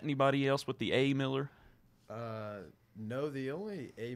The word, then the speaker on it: Millar: us the real answer is it Miller or marar set the record straight it's Miller okay now is that any background on that with your family do you have you met anybody else with the a Miller uh no the only a Miller I've ever